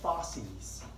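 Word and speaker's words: fauces: They call that the fosses. Write that on the board. Well, anyways, the fosses, spelled like that, F-A-U-C-E-S, contains the palatine tonsil.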